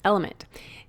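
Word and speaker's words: LMNT: our sponsors Ln element it's spelled l MNT but pronounced element if you haven't heard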